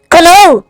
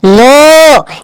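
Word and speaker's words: know: স্যার এটা লেখা আছে কে এন ও ডব্লিউ, কনৌ। স্যার এটা কনৌ লেখা আছে। হ্যাঁ স্যার, একদম ঠিক স্যার, এটা কনৌই হবে। স্যার ওটা লেখা আছে কে এন ও ডব্লিউ, নো। এখানে কে এর উচ্চারণটা মুখে হবে না।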